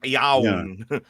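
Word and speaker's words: Ioan: Is it Ian? Because it's like spelled with like an O. I thought it was Ian. It's like Yawn. Yeah, it's like Welsh version of Ian.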